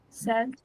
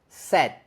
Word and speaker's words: said: for the second one hold your mouth open at the end like this set said said watch me one more time said set s s that's good but you don't need to make any sound at the end all you need to do is the gloal stop that's the thing I'm doing I'm doing that gloal stop at the end you see said set